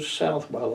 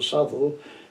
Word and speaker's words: Southwell: My parents moved from Sussex up to Southwell or Southwell, depends how you pronounce it, in Nottinghamshire.